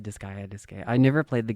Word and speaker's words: Disgaea: The company Nipponichi is known for creating games like Disgaea. I think that's how you say it. Disgaea, Disgaea, Disgaea.